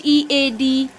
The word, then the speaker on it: head: sound of ea here that is a short sound it makes the short sound of e what is the short sound of e very good so h h-e-a-d head h-e-a-d head d-e-a-f very